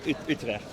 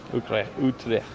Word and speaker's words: Utrecht: Yeah, Utrecht. Utrecht.